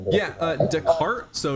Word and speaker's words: Descartes: Uh, Deart. So, it's spelled descartes.